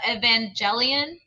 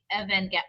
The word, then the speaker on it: Evangelion: Oh, I guess I'm lying because Evangelion is a J sound. Ah. Oh no, I think maybe it is Evangelion.